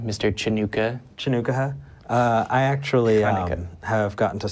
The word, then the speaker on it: Chanukah: I've got, and I'm going to pronounce it correctly, Mr. Chanukah. Chanukah.